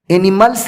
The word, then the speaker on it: animals: ایسے نہ کہیں animals، animals نہیں، animals۔ کیوں؟ کسی بھی ایل کے بعد اگر اس آ جائے تو اس اس کا تلفظ زا سے ہوتا ہے، اسی لیے آپ اس